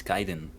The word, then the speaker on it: Khaiden: By the way, just a reminder, it's Khaiden. Khaiden. Remember. Khaiden, sorry. Okay. Khaiden. Always remember Khaiden. it rhymes. Yeah, no worries. Sorry. It rhymes with Python. Think of pies.